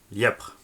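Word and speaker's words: Lièpvre: C'est pas compliqué, 68660 Lièpre. Lièpre. Certains le prononcent lièvre, moi je dis lièvre parce qu'il y a un P avant le V, tu fais comme tu veux.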